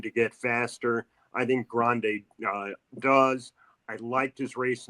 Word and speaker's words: Grande: Well, first of all, my first question about Grande is, how should we pronounce his name? Grande. Like in the Rio Grande River.